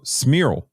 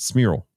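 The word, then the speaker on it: Cmiral: c-m-i-r-a-l i apologize for oh smirl that's how you pronounce it smirl and i i'm not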